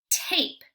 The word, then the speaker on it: tape: you ready a tape notice I did not say the sound for E because it's a super silent E so we're not going to say the sound instead we're going to say the vowels name and our word is